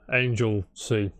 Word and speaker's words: Anglesey: And then I can did you- pronounce it as well. Yeah, Angel C.